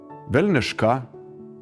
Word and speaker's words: velniškà: For example, did you know that a long time ago, Lithuanians used to say: velniškà “devilish”, mẽdelis “a small tree”, karãlystė “a kingdom”, ámžina “eternal” or patógiausias “the most comfortable”?